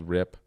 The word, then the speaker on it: Wrip: It's a band called Rip. So before we were in Seltzer, he had a band called Rip. Rip, okay. And it's spelled WRIP.